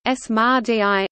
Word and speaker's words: samādhi: Samadhi Tamil, Samadhi Kamati Sanskrit, Samadhi Hindi pronunciation, Smadhi, also called Samapati, in Buddhism, Hinduism, Jainism, Sikhism and yogic schools refers to a state of meditative consciousness.